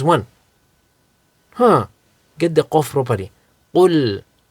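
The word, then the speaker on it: قُلْ: Qul and kul. Qul means say. Kul means eat. So if you pronounce kaf as a qaf or qaf as a kaf, you're going to change the meaning, right?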